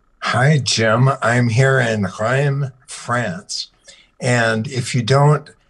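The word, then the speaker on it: Reims: yourself a bit hi jim i'm here in graeme france and if you don't if that doesn't sound familiar to you it's spelled r-e-i-m-s and among other things it has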